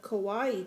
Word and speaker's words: kawaii: a Kawaii charm.